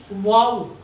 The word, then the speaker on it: vow: अब ये जो वाव है इसमें V का प्रोनाउंसिएशन और W का प्रोनाउंसिएशन दोनों डिफरेंट हैं। V जो होता है वो इंग्लिश में थोड़ा दूसरे ढंग से प्रोनाउंस किया जाता है, W दूसरे ढंग से किया जाता है।